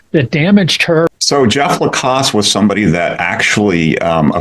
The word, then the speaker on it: Lacasse: But we can, touch on, again, his name is escaping me now, the boyfriend, Jeff Lacasse.